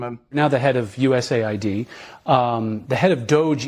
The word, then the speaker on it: USAID: in today's episode we're going to be discussing us a ID which we will no longer be pronouncing like that it's us a obviously the